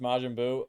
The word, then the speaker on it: Majin Buu: majin buu majin park is that how it's pronounced majin buu c yeah oh dude man that brings me